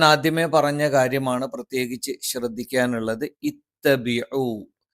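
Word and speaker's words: اتَّبِعُوا: ഇത്തബിഉ ഇ എന്ന് കൃത്യമായും ഈ എന്ന് തന്നെ ഉച്ചരിക്കുന്നുണ്ട് എന്ന് ഉറപ്പുവരുത്തണം. തൊണ്ടയുടെ താഴ്ഭാഗത്ത് നിന്ന് ഇത്തബിഉ ഇത്തബിഉ.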